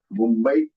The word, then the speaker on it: Mumbai: Here, the Anuswar on Mumbai is on the first alphabet. Following that, there is B. And B falls under which category? B falls under power. Power. So power has the Anunasika as half M.